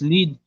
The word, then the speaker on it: lead: before one can classify a lead pronounced lead as being a prospect first